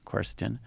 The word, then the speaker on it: quercetin: vitamin d zinc quercetin so how do you pronounce that quercetin yeah um i take um what is the